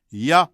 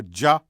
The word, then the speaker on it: Jah: either Y or J with the pronunciation options being hard J or why one could defensively say yeah Rastafari or Jah Rastafari because both are legitimate linguistic options in fact since Yahweh